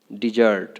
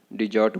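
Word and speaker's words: desert: डिजर्ट, है ना। डिजर्ट को यहाँ पे आर जो है साइलेंट है, तो क्या बोलना है? डिजर्ट। डिजर्ट बोलना है, डेजर्ट नहीं बोलना है।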